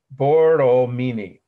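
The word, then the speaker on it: Borromini: can be very long bordeaux meanie it's fairly phonetic if you say it slowly and pronounce it correctly but i'll spell this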